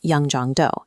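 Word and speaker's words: Yeongjongdo: The first layer of this intervention sits on Yong Jong Island, pronounced Yong Jong Do.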